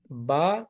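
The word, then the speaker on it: ب: Here, if you see the articulation point, ba is the letter coming out from the lips.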